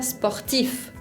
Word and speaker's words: sportif: Por ejemplo, la palabra sportif. Sportif, deportista. Sportif, se pronuncia siempre la F.